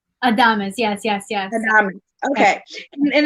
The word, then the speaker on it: Adames: instagram and i said i said your last name wrong so it's adamus adamus yes yes yes okay